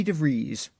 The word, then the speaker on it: DeVries: and episode 17-inch guest vicky devries rhymes with cheese let us know that